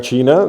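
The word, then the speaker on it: Qing: de hecho el King el nombre de King que es uno de los que sale es en chino se pronuncia chin Y es de donde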